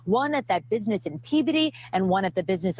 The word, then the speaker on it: Peabody: So here's this article right here, FBI search Peabody. I know it's not Peabody, it's Peabody is how they pronounce it, I believe.